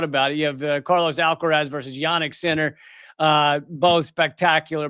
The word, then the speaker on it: Alcaraz: It's like, oh, you've got Carlos Alcaraz, Alcaraz, pronounce it the correct way.